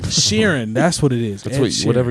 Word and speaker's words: Sheeran: don't know I'm sorry she said it right Sheeran that's what it is whatever you said yeah